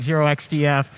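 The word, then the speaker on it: 0xdf: ipsec videos or uh uh write-ups by like zero xdf is that how you pronounce their handle I forget yes okay um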